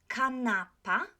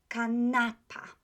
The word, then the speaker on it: kanapa: Kanapa. The accent falls on the next to the last syllable, right? Penultimate. So kanapa.